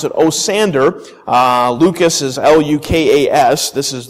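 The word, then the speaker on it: Osiander: I'm going to try to pronounce it Osander.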